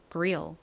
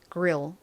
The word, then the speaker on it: grill: grill. 실제 미국식 발음으로는 그릴보다는 요렇게 리에 가깝게 발음이 나요. grill, grill.